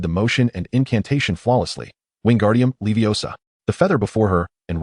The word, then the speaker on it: Wingardium Leviosa: Ron watched enviously as Ona ended the spell, prompting him to shout, "Wingardium Leviosa while flailing his arms like a windmill."